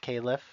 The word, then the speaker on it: Califf: Again, Califf, pronounced Califf if you're interested.